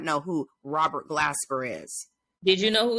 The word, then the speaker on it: Robert Glasper: And did you see what he said about what his name, Robert Glasper?